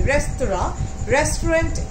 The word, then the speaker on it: restaurant: Restaurant is actually, the spelling is R-E-S-T-A-U-R-A-N-T. It's a French word, so the pronunciation is restaurant.